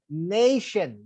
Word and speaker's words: nation: But you're supposed to say nation because the word end in ION. So if a word end in ION, you should stress the penultimate syllable of that word.